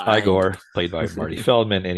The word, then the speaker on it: Igor: castle he's met by he meets uh eigor or as he likes to be pronounced igore played by Marty Feldman